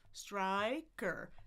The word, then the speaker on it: striker: So, I start in the middle. Ah. Ah. Ah. Move forward to that short I we saw. I I moving my tongue and closing my jaw at the same time. Then we have the schwah which we know is in the middle. So we had I I striker striker striker.